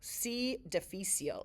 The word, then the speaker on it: C. difficile: C. difficile is how you say that.